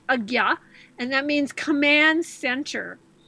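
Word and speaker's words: Ajna: So one of your chakras is called Agya chakra. That's spelled A-J-N-A, pronounced Agya, and that means command center.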